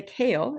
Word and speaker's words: CAEL: So, first of all, we call this test the kale and we spell it exactly this way because each letter in the word kale stands for another word.